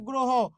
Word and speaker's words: গ্রহ: কারণে যে এখানে হ শব্দের শেষে হ থাকলে সেখানকার অ এর উচ্চারণটা কি করতে হবে ও করতে হবে হ থাকলে সেখানকার অ এর উচ্চারণ কি করতে হবে ও করতে হবে ওই জন্য গ্রো হ গ্রহ তাহলে একটু আপনারাই বলুন